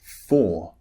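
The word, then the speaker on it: four: example walk w-a-l-k and for f-o-u-r remember the r at the end in english in british english is unpronounced another spelling p a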